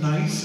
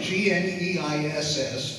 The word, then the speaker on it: Gneiss: But it's, tell us a bit about how you decided on the Fordham Gneiss. Am I pronouncing that? That is right. G-N-E-I-S-S, Fordham Gneiss.